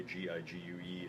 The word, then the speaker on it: Gigue: That is how you pronounce it, by the way. G-I-G-U-E is Gigue.